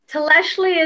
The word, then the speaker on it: Tlextli: So for those listeners, Tleshli is spelled Tlextli, and it's in the ancient Nahuatl language, the ancient language of Mexico.